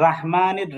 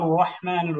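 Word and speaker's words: رحيم: হয় র যেমন বিসমিল্লাহির রাহমানির রাহিম আর বাংলায় আমরা লিখি বিসমিল্লাহির রাহমানির রাহিম কিন্তু আসলে তো রাহিম হবে না রহিম হবে যেমন আলহামদুলিল্লাহি রাব্বিল আলামিন আর রহমানির রাহিম এই যে আর রহমানির রাহিম আমরা কিন্তু সূরা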